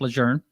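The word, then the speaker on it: Lejeune: So first duty station was second marine division and camp loun or camp lune, whichever way you want to pronounce it, but leger is the proper way.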